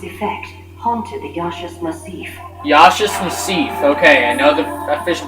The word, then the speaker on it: Yaschas Massif: Yaschas Massif. Okay, I know the official pronunciation now.